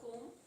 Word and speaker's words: comb: And what about comb? B is silent.